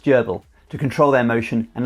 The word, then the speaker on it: GRBL: Most hobby laser cutters use G R B L, pronounced Gerbil, to control their motion and laser power using g-code that your computer software outputs.